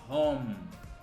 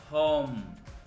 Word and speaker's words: home: Então a primeira parte a gente tem o home, que reparem, o E a gente não pronuncia, a gente termina no som do M, com esse som fechado aqui, ó, home, home, home.